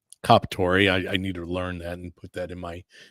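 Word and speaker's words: Comperatore: taking a gentleman's life, Corey Kampor, I can never say his name. Comparatori. Yes, thank you. Kapatori.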